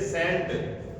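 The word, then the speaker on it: scent: साइलेंट रहेगा। जैसे सेंट एस सी ई एन टी सेंट।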